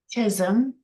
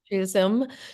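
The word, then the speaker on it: Chisholm: what the late Shirley uh how do you pronounce the last name uh Janine so I won't mess up please Chism Chism said that if you do not invite you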